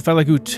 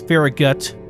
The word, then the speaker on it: Farragut: And then we'll travel back to Falagut. I don't know why I'm saying it like that. It's Farragut.